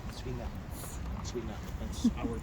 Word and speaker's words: Zwinger: It's Z-W-I-N-G-E-R. The Germans pronounce it with a hard Z at the beginning, like Zwinger.